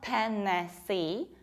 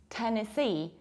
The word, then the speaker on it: Tennessee: And this is not Tennessee, but Tennessee. As if you wanted to say tennis.